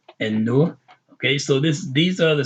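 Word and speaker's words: النور: These are all the letters that when you pronounce them with an al in front of them, you pronounce the letter twice. You don't say al.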